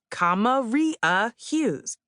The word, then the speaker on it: Hughes: It's pronounced Akilah Hughes.